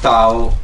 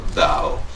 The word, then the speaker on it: Tao: So, first of all, we can pronounce Tao or Dao.